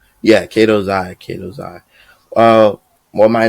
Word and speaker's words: Katozai: Yeah, Katozai.